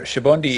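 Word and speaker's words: Sabaody: The reason, or the language roots behind this are Shabondi is... Yeah, it's Portuguese. In Japan, the word Shabon or Shabondama in particular means bubble.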